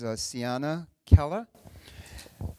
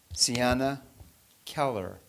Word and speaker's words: Ciana Keller: day, and that is Ciana Keller. That's my New England accent, so I'll say it again. Ciana Keller. How's that? Is that better? Pronouncing my R's. I'm learning to pronounce my R's.